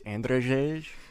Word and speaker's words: Andrzej: It's Andrzej. There's Remix correcting me on how to pronounce a name.